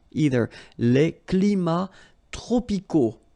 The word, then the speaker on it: tropicaux: Les climats tropicaux. Final X not pronounced.